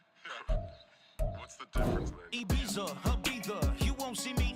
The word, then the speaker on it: Ibiza: Yeah, it's pronounced Ibiza, actually. Yeah. What's the difference then? Ibiza, Ibiza, you won't see me in neither.